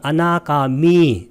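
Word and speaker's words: anāgāmī: 자, 불안자는 4, 5번을 제거하는 이것도 아나가미, 미를 길게 발음해야 돼요.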